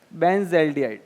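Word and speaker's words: benzaldehyde: इसका प्रोनाउंसिएशन जो होता है वो बेंज़ल्डिहाइड होता है। ठीक है? बेंजेल्डिहाइड बेंजाल्डिहाइड ठीक है यह भी सही है बेंजोल्डिहाइड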